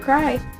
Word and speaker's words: KRAI: instagram it's okay to cry sorry yes it's okay to cry so it's okay and then spell it out t-o cry k-r-a-i and i tagged him